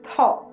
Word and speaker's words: থ: The next letter is tha. It is pronounced as tha in the word think in English.